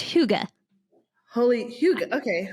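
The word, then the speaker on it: hygge: like holy H it's Huga holy Huga okay I know it's not spelled anywhere close to that but that's how you say it h Huga and homeschool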